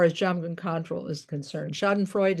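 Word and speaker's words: Schadenfreude: Shoden Freud is the uh probably mispronounced German phrase referring to taking joy in others suffering.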